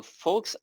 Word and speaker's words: folk: folklore yeah okay yeah the l is not pronounced but in here it